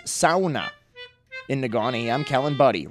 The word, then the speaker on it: sauna: leave until I pronounced sauna correctly. Clearly, I have a lot to learn. For the record, the correct pronunciation is sauna.